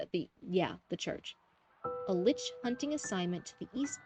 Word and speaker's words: lich: Without the Inquisition, he reasons, there is only the rule of leech, the lich, liches, that's how you say it. Not leeches, liches.